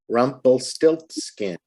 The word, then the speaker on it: Rumpelstiltskin: Now, the most voice sound comes on the syllable of stilt. So you say Rumpelstiltskin. You have a little bit more voice power on the stilt part.